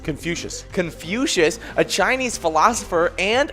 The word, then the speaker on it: Confucius: in 551 bc on today we got uh confessious confucius confucius a chinese philosopher and founder of confucian